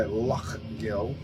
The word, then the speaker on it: Lough Gill: do let's get into lock Gill so there we go now I I a Scottish person told me how to pronounce lufkill by luck Gill but that's oh that's